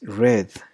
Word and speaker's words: read: In verb 1 it is read, but in verb 2 and verb 3 it is red, like the color.